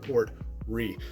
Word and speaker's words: Port Ruighe: But I can assure you guys that it's pronounced Port Ruighe. And the Port Ruighe, like I said, is finished in port wine casks, and it comes in with an ABV stamp of 45.8%.